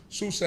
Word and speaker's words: Susa: Shushan is the way that we pronounce it as Hebrews. Susa is the way that the Medians, that the Persians pronounced it.